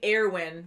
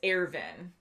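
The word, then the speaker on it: Erwin: yeah and then um we were saying heirwin but it's airvin arabic and i have heard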